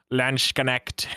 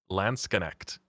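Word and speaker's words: Landsknecht: 100 reliable is that you don't say shut in the middle it's actually so it's like landscaping oh lance connect so it's not lansh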